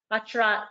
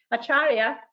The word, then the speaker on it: Acharya: at the university of plymouth and dr parag bachara sorry i've said your name wrong perfect acharya senior fellow in food innovation at the national